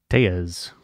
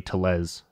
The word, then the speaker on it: Tellez: who goes by Rowdy Tellez. Rowdy Tellez. And it rolls, but I've just been told that it's pronounced Tejas my whole life, and that's Ryan Tejas.